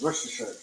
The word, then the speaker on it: Worcestershire: That and I can't pronounce it, so I feel stupid. What did you say? Worcestershire sauce. Worcestershire sauce, yes. Worcestershire.